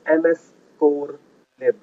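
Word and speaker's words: mscorlib: The way you pronounce it is ms core lib.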